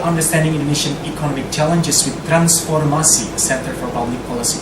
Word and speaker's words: Transformasi: For the first time, we finally have the chance of inviting Transformasi. I should pronounce it in Bahasa, right? Transformasi.